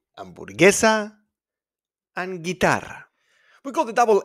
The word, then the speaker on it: guitarra: So we got guitarra, guía turístico, we don't pronounce the U. And in GUE, like in hamburguesa, guerra, guerra, we don't pronounce the U. Hamburguesa and guitarra.